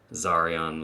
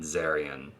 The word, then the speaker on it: Zarian: That includes new fragrances like Oud Zarian, which I only recently learned is pronounced Zarian like Rastafarian and not Zarian like Marion Cotillard, which is how I was pronouncing it.